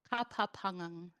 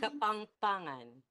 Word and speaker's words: Kapampangan: Kapapangang. For those, I think I'm already saying it wrong. I can tell. Sister Hazel, is that how you say it? Kapapangang? Kapangpangan.